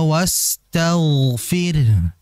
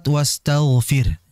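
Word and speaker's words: استغفر: Fokus di kalimat wastaghfir. Nah, ini dulu saya juga latihan ini cukup lama sampai-sampai ya itu saking sulitnya nggak terasa di WC itu dibaca wastaghfir agar sin sama ghainnya itu betul. Kalau tidak saya latihan 2-3 bulanan untuk mengucapkan sin sama ghain.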